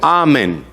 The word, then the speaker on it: amén: todos decían amén amén la palabra amén es una palabra original en hebreo que significa así sea así sea y se pronuncia la misma forma en el hebreo amén así sea confirmando lo